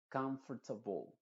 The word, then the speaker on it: comfortable: la l se diría comfortable si tú te fijas decimos B al final en vez de ble ble no se dice ble sino la e cambia